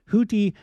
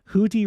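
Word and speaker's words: Houthi: week the Iran backed houti sorry houti that's how it's pronounced houti rebels of Yemen join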